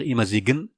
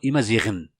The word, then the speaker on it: Imazighen: Bien sûr, ici, j'ai pas utilisé le jas, c'est pas la peine, parce qu'on va pas dire Imazigen, non, Imaziren.